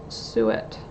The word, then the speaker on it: suet: Suet. Pronunciation.